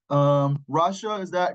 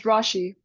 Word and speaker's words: Rashi: Rasha, did I pronounce that right? Company C? It's Rashi. Rashi.